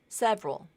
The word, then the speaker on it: several: and more common Catholic several two syllables you might hear someone say several several but I think several as two syllables is more common number seven this word